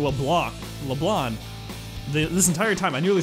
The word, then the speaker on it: LeBlanc: LeBlanc. This entire time, I nearly said it wrong again. I was saying LeBlanc with a hard, like, CK sound.